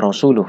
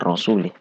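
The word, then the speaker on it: رسوله: Intinya bacanya rasuluh ya, bukan rasulih.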